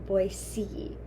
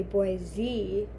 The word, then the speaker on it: Boise: Boise um and then people go really crazy if you're not saying boy C like with a c like the letter like boy C if you don't say boy C that even like I feel like I am not but if you don't say boy C and you say boy Z people go crazy it's it's as if you are a Californian they assume you're